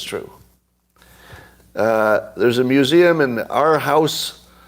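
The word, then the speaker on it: Aarhus: There's a museum in our house, that's how you pronounce it.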